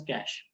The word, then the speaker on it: cache: It is pronounced as cache.